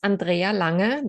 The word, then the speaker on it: Andrea Lange: you do okay so my name is Andrea Langer that's the way how you say it in German I am German and